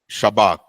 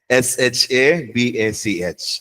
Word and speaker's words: shabach: Fourth word is shabak. Shabak. So when you say the last syllable, it should kind of come from your epiglottis. Okay. Okay. Shabak. Careful. Okay. SHABACH.